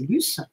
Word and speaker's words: Luce: Moi, en revanche, quand j'ai vu ce nom de Luce en français, parce que je ne veux pas le prononcer en italien, parce que en français pour moi c'est Luce, j'ai été un peu étonnée qu'ils aient choisi ce prénom.